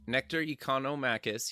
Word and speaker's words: Nectarios Economakis: welcome back to the show today we have nectar economicus he's a partner at the PNR nectar welcome to the show thanks for pronouncing my name crest this this was the